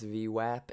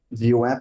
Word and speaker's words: VWAP: VWAP if you're American, VWAP if you're British.